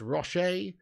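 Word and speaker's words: Rochet: in sticks for Uruguay it's Roche like Ferrero Rocher but not nearly as tasty um then we've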